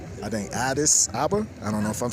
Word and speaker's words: Addis Ababa: I think Addis Ababa.